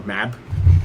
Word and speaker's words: Mab: they also they uh smt pronounces it instead of maeve or maeve m-a-e-v-e they just call her mab that maybe map map yeah so yeah